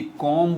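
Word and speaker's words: comb: कॉम्ब बोलते हैं, ये भी गलत है। बॉम्ब बोलते हैं, ये भी गलत है। चलें ये भी सुन लें आप, ये सारे साइलेंट लेटर्स है। इसको पढ़ेंगे कॉम्ब, इसको पढ़ेंगे बॉम्ब, इसको पढ़ेंगे डेट, ये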